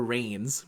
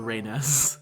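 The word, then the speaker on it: Reines: I usually call her Reigns, but I believe it's called Reynes. It's actually that.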